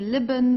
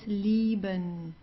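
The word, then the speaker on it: lieben: love Leon okay so you don't say lion or so it's leben the German L is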